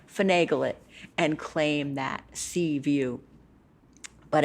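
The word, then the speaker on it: CVUU: coastal virginia unitarian universalist so they call themselves sea view which is kind of a play on word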